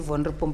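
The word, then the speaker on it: Wonderboom: ngithengisa isinkwa eVonrepom ePitori kunendawo abathi Vonrepom but it's spelled as Wonderpom station okula maframa ngithengisela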